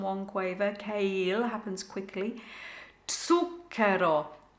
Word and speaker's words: zucchero: Zucchero, zucchero. So the TS sound for the Z, zuc, double C, kero, portin.